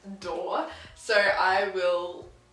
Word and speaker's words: Doerr: time my tits and then it's pronounced door so I will say